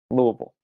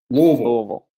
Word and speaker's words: Louisville: watch from all over the country it is pronounced louisville louisville louisville so we will the rest of the show